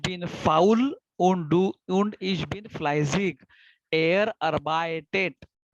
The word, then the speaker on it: fleißig: Okay, so this is what same, Fleizig. So asset IG, Fleizig. Ich bin faul und ich bin fleißig. arbeitet. EI is I. EI combination जब भी आता है तभी I करके pronounce करता है.